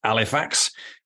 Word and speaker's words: Halifax: And so I went to the grammar school in Halifax, or pronounced Halifax when you're from Yorkshire.